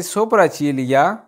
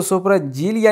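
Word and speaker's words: sopracciglia: एंड वाला फिक्रा जी सोपरा चीलिया पलके, इसको सोपरा जीलिया नहीं पढ़ देना। ठीक है, ये जी साइलेंट है।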